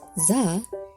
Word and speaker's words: Zan: Zan, pronounced, "zah", is the modern equivalent of Z, (chalk scratching) Zeta in Greek, and Zayin in Modern Hebrew.